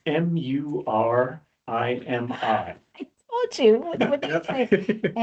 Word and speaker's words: Murimi: I couldn't figure out what you were saying exactly or how to spell it, so I guessed. So it's Murimi.